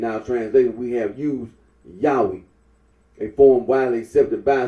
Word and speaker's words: Yahweh: can be little doubt that it is not Jehovah marp honor remarks that certain conclusions drawn from pronunciation of as Yahweh would be valid even if the scholarly consens